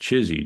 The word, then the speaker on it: CHSI: human super intelligence uh or chsi which we pronounced chesy just for fun um but imagine this